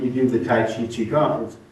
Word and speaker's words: Qigong: Yeah, And of course, Qigong is spelled multiple ways, the QI or the CHI. Yeah. And Gong, always G-O-N-G? G-O-N-G.